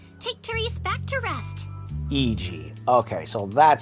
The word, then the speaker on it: Iji: Iji.